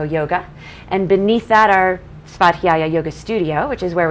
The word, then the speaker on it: Svadhyaya: Svadhyaya.